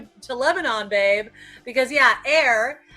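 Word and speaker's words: Aire: name is and it's a i r e it's pronounced air okay they've named their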